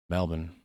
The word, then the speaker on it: Melbourne: It's pronounced Melbourne.